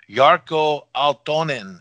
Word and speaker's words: Jarkko Aaltonen: is that correct yes yes and have i pronounced your name correctly is it corporate yes yes and your name is yarko altonin is that correct yeah pretty much yeah sounds